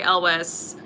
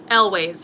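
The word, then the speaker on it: Elwes: image i have in my head of carrie ellis is that how you say his name elways okay sorry um is is from princess pride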